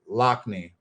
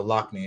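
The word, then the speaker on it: Loughnane: being in the house his name is lockney yeah they're sorry so lock me is how you say it thank you uh gary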